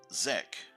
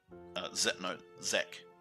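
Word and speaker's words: Xec: Skek because he thinks Zek, Z-E-C, I think is how his name is pronounced. X-E-C, Zek.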